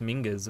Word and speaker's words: Mingus: Or at least we know what Mingus is, because it's pronounced Mingus, apparently. Greatsword.